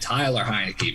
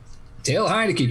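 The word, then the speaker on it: Taylor Heinicke: Oh, I thought you were talking about this other guy named Tyler Heineke because nobody knows how to say his freaking name. Taylor Heineke, people.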